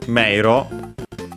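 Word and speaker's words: 迷路: While this one, meiro, by the way, accented on the first syllable, so be careful.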